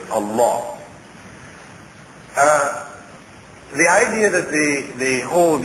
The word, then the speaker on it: Allah: their God Allah, or it's usually pronounced in the West as Allah. We pronounce it actually as Allah.